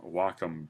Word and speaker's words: Wacom: So this is I'm using uh um the hardware I'm using is the uh looks like a wakecom but it's actually pronounced Wacom.